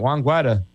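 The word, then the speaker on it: Juan Guaidó: You didn't even say his name right, Juan Guaido.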